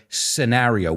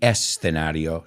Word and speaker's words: scenario: We say the scenario. We don't say it with an E in there. We don't say the escenario, sino the scenario.